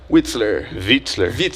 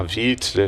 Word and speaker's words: Witzler: E hoje a gente conta com a presença dele, Lucas Witzler, desculpa, Lucas. Eu morei 6 anos na Alemanha, né? Aí, pô, W em alemão você pronuncia V, então tem que falar certo pra não errar.